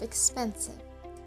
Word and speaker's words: expensive: of shift that's expensive we know that the stress is on the second syllable of expensive so we raise the